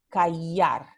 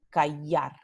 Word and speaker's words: callar: En casi toda América Latina, no todo, se pronuncia callar. And this is pronounced like the Y, like you would know it as a letter Y, callar, ¿verdad?